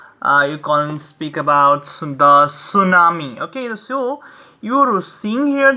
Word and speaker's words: tsunami: Okay, so the correct pronunciation is tsunami.